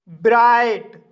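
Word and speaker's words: bright: आई पड़ा जाता है जैसे ब्राइट ब्राइट शब्द में आई के बाद जी एच आया है इसलिए आई का लॉन्ग साउंड आई पढ़ा जाएगा और जी एच साइलेंट रहेगा इसलिए इसे ब्राइट पढ़ा जाता है और ब्राइट मींस होता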